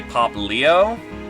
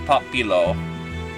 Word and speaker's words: Poplio: Phonically, there's only 2 or 3 letters, so yeah, it's probably correct to say Poplio, but my brain's reading it as Popilo.